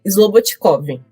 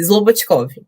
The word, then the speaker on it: Slobodticov: Vamos lá, é Slobotkov. Zobotkov. Isso, Slobotkov. Slobotkov. Só que o D é mudo.